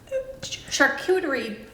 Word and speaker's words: charcuterie: Charcuterie. I know I pronounced You it got it wrong.